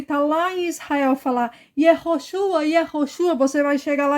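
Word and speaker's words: Yehoshua: a pessoa que tá lá em Israel falar yoshua yosua você vai chegar lá e vai falar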